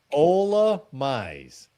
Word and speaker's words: Ola Mize: Well, pronounce his this- name right this time. Oh, like me. Ola Mize.